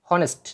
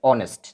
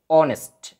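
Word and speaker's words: honest: তো এটা আসলে একচুয়ালি হনেস্ট না এটার উচ্চারণটা হবে সঠিক রাইট প্রোনাউন্সিয়েশন হচ্ছে অনেস্ট যেহেতু এইচ দেখো এখানে এইচ এর উচ্চারণ নেই অনেস্ট অনেস্ট ও এর মত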